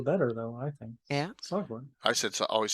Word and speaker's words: Sahuagin: From I keep trying to do Sahagin, but growing up when I was younger, it was always Sahuagin.